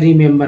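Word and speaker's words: remember: पहला ई का उच्चारण जो है छोटी के रूप में हुआ, दूसरा ई का उच्चारण ए के रूप में, तीसरा ई का उच्चारण अ के रूप में हुआ।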